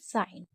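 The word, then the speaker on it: sign: साइन, क्योंकि जी साइलेंट है।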